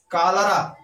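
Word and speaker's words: cholera: सी बराबर C plus H का sound क। कोरस, कोरस मीन्स होता है गायक दल। कालरा, कालरा मीन्स होता है हैजा।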